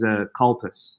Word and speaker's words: Calpis: in my video because the American pronunciation is Calpis. Calpis? Something like Calpis. Whereas we just say Calpis, which sounds, of course, like Calpis.